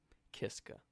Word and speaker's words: Kiska: So I did pronounce it right the first time. Kiska.